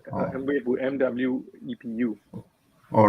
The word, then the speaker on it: Mwepu: It's Mwepu, Oh. Mwepu, MWEPU.